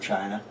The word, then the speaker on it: Qin: other words region of China where there were Seven Kingdoms which had settled out by 2,240 years ago and by 2221 years ago this Kingdom in Gray which is called chin qu i n um conquered all of